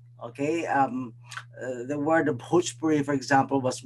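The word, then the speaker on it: Bhojpuri: um the word the pujpuri for example was mispronounced so it's it's a heavy h there and it's not bhajpuri it's okay similarly uh the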